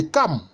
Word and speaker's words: Cham: C'est le fils de Cam. Mais ça s'écrit Cham, mais c'est le fils de Cam, ça s'écrit Cam.